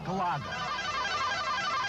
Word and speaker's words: Galaga: 2.5 hours, on 1/4, mind you, and play Galaga. That's how it's pronounced.